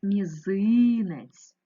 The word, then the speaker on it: мізинець: транскрипцію цього слова мізинець перший звук вимовляється м'яко м останній звук вимовляється м'яко ть наголос мізинець ненаголошений е наближається у вимові до и порахуй будь ласка скільки